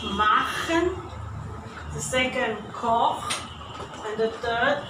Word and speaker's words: Koch: So also, the first is pronounced machen, the second koch, and the third Buch. All from the throat.